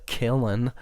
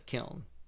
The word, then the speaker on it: kiln: weird i don't know maybe she was from somewhere where they call it that but maybe in ohio we call it the kiln that's how i always